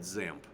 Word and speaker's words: XAMPP: instead of calling this xamp which is what I call it they call it zamp the x is pronounced like a z like in xylophone but sometimes you see